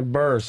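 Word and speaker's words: Burress: Yeah, Burs.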